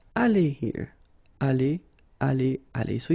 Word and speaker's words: allées: So the good news is that phonetically it's aller here. Aller, aller, aller. So it's the same. You don't pronounce this final you don't pronounce this final S here.